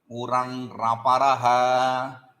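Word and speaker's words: उरण्रपरः: 3 pada sutra, it is not 2 pada. Uhu an raparaha, it is not actually raparaha. Raparaha, Uranraparaha, that is the proper way to pronounce this sutra.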